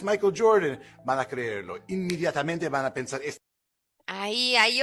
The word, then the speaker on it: inmediatamente: He said inmediatamente, right? We know letter E in Spanish, named E, is pronounced this way. E, E. He's saying inmediatamente is not a native pronunciation in Spanish.